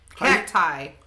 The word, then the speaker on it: cacti: Cacti. That's how you say it. What was a cacti? It was just a cactus. Cacti is plural.